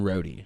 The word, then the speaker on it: Rohde: yeah yeah yeah so uh you were rhode right is that how you say how do you say your last name cody rhodey yeah rhodey okay that's good for me to know because